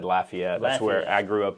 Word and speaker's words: Lafayette: Is it Lafayette or Lafayette? So neither. So growing up there, being from there, we pronounce it Lafayette.